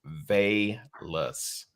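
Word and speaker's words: Velus: to pronounce his name valus is it vain that's according that's according to nfl. has it broke down it's vey less so they less is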